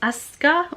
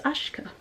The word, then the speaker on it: Aśka: Jessica Walton, and the artist's name is Aska, or maybe it's Ashka. Oh, I should have looked up how to pronounce that before I made this video.